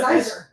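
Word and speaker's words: Siser: They spell it Sizer. Sizer. So in Right. America, we say Sizer, but apparently they didn't get that memo because the machines are called, what, Romeo and Juliet, right?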